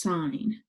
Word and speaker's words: sin: abbreviated sign will look like sin but we pronounce it as sine cosine is just cos and tangent is just